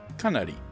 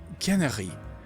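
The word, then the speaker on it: canari: in the Let's Play, I thought that this was like Japanese syllabary because it's just 3 syllables, Kanari. So I thought it was Kanari, something like that. No, it turns out that Canary is how you say canary in French.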